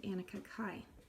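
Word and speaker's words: Anneke Kaai: But the first thing we need to do is get some inspiration from a woman named Annika Kai. Her name is spelled Annekekaai, and I'm just going to put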